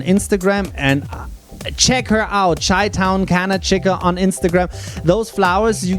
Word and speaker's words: ChitownCannaChica: And it is ChitownCannaChica.